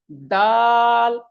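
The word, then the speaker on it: دال: সহি করে পড়তে হবে ডাল জাল নয় দাল দাল জাল র চলুন আবার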